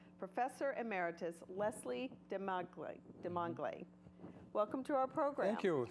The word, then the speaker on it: Desmangles: delighted to have professor emeritus Leslie de Madre de Mangal a welcome to our program cool thank you for having me did I pronounce that correctly yes you did did a